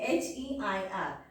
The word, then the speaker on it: heir: So, this word, look at this word carefully, H-E-I-R. But you have to pronounce it as heir.